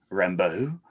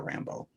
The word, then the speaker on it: Rambeau: I've been saying her name wrong for the last 30 years, by the way. I think I've been putting too much of a French spin on it. Rambeau. And they just call her Rambeau.